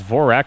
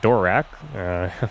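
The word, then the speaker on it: Dvorak: Vorak, I'm going to pronounce it as Vorak and not Dorak. This is just a DV there.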